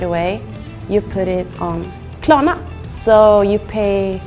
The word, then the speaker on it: Klarna: Yeah, so I can also hear you pronounce the R's pretty strongly. I don't pronounce it that hard. Klarna. And you also pronounce the A's differently. Well, first is like and the other one is like ah. Yeah, the first one is like in the middle and the second one is like in the end.